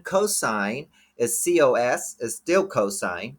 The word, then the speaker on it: cosine: is cos is still cosine you still say cosine you don't say costs or coasts okay I tangent is